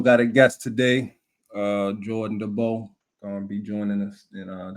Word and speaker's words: DeBow: And we also got a guest today, Jordan DeBow, gonna be joining us. And that's how you pronounce his last name.